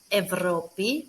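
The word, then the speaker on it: Ευρώπη: how we pronounce them the first option is that we should pronounce them as av and ev for example evropi which is europe and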